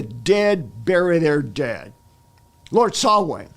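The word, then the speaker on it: Samhain: bury their dead Lord sway that's spelled s m ha a i n that's the historical druidic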